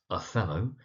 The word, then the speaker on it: Othello: That's Othello, emphasis on the second syllable.